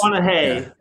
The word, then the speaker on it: McConaughey: Did I say that right? McCannaha? No, you said it wrong. Close. McConaughey.